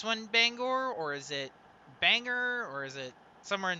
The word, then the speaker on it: Bangor: so i i have to ask because the people in maine get really touchy when you pronounce their bangor the wrong way cousin because in maine the one in maine is pronounced bangor so is this one